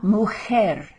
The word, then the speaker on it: mujer: La mujer, and the J, remember, is pronounced in your throat as though you've got some phlegm to cough up.